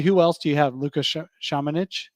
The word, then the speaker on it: Luka Šamanić: Luka Shamanich? Is that how you say his name? Yeah, Luka Šamanić.